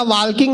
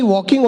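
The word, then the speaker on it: walking: करते-करते ताल किंग करेंगे मैंने कहा वॉकिंग नहीं वॉकिंग होता है टॉकिंग नहीं टॉकिंग होता है इसमें एल साइलेंट आता है फिर मैंने अपना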